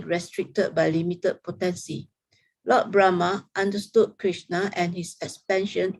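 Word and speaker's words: Brahmā: his name is pronounced brahma it the the the emphasis is on the second syllable brahma you see the line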